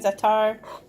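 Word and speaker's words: za'atar: Zatar.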